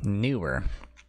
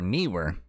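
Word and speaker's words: Neewer: Mine is a newer, N-E-E-W-E-R, newer, or newer, however you want to pronounce it.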